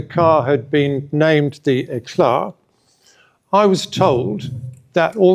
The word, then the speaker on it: Éclat: No, but we do say Éclat because we're from Norfolk, so that's the right way.